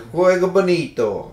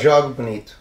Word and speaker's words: jogo bonito: El juego bonito, or jugo bonito, or juego bonito. Ah, pronunciation is bad. Jogo bonito. Jogo bonito.